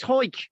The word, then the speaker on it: Howick: It's not Howick. It's Hoik. You nunk. Hoik. It's spelled Howick. Yeah. But it's Hoik.